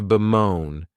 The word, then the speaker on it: bemoan: The next verb is to bemoan, and this verb has 2 syllables, and the stress is on that second syllable.